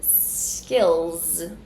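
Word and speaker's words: skills: So after the vowel sound, we have the dark L. The dark L is a consonant sound that we do not have in Portuguese. To pronounce the sound, you are going to make a lot of tension on the base of your tongue. So, skill, then end with the Z sound, skêlz.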